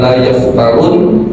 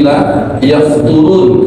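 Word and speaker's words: لا يفترون: La yafturun, bacanya dikandungkan, bukan la yaftarun, tapi la yafturun.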